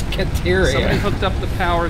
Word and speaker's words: Caterium: Continually mispronouncing Caterium. I wasn't saying deuterium at all. Caterium. I said Serotanium. There is no Serotanium. It's Caterium.